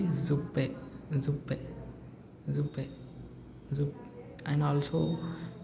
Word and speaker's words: Suppe: This is the word suppe, SUPPE. So here the letter S is there, then the pronunciation will be za, right? So this word will not be suppe, it will be zuppe, zuppe, zuppe, zup.